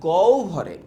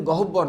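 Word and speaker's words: গহ্বর: ধনিগুলো উচ্চারণ সময় মুখ গভরে এটার উচ্চারণ কিন্তু গহবরদ না গভর গভরের কোথাও বাধা পায়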